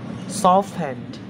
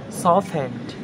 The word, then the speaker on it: softened: we saw we saw listened listened castle castle softened softened and fastened fastened okay guys thank you for